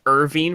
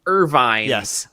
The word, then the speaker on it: Irvine: first off I was I've been pronouncing his name as Irving for the entire time so thank you Captain